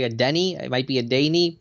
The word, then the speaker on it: Adeniyi: Well, you had the pronunciation of it's like a Danny. I think I say a Denny.